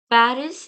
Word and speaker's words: Paris: are going to see final consonants are usually silent for example Paris in English is pronounced as pari in French par we not we